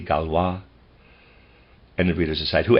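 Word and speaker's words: Gaulois: LA goloys Peter's aside spelled g-a-u-l-o-i-s possibly galwa and the reader's aside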